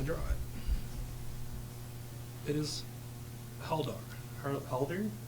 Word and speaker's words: Haldir: Haldir?